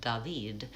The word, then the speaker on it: David: So for example, if you're in a French-speaking country and your name is David, it will be more like David.